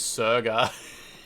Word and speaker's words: Sega: Yeah, Sega is actually an abbreviation of service games. So, the correct way to pronounce it is Serga.